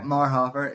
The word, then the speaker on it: Marhoefer: Marhoefer. Yeah, sorry. I should have asked you if I It's pronounced everyone.